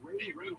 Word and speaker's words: Beirut: Beirut is spelled B-E-Y and then root, like the root of a tree.